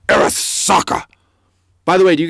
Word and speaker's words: Arasaka: That's how you say it, by the way. You don't say Arasaka, you say Arasaka.